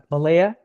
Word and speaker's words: Malia: Malaya. Yes, Malia. It's hard to pronounce.